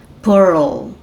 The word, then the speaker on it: Pearl: menina Girl né Girl Pearl Pérola né esse R com esse L aí você precisa fazer o r lá atrás e o l aqui na frente na sua boca Carl Bad caverns tá